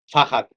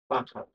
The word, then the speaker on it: Fahad: Fahad. That's a difficult name to pronounce. Fahad.